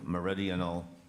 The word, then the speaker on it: meridional: I was intrigued by Shackleton's meridional expeditions. Am I saying it right? Meridional. Correct. Could I please have the definition?